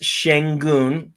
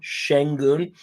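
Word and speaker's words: Şengün: It's pronounced Sengun, like a sh sh Sengun.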